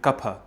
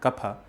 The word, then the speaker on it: Kapha: Vata, Pitta and Kapha. Yes, it's pronounced Pa, not Fa.